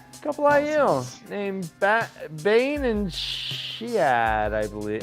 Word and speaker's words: Chiad: Couple IL named Bane and Shiad, I believe. How do you guys pronounce that? Shiad. Yeah, Chiad.